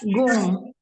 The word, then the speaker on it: 공: 공. itu 그, o. Lalu ini apa namanya? ng ya. Jadi bacanya 공 begitulah ya.